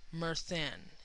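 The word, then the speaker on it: Myrddin: y r d d i n but it's pronounced mern m e r t h n Go Figure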